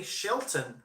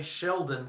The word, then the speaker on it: Shelton: and close calls I have learned in the last couple of years to say Shelton right I think Shelton did I say it right Shelton man you say Sheldon 400 times in a video you hear about it in the comments section you just cattle core